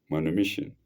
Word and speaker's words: manumission: for conditional man manom for conditional maniss maniss is spelled a m n u m i SS i o n for conditional maniss manumission by a written deed fixing the amount required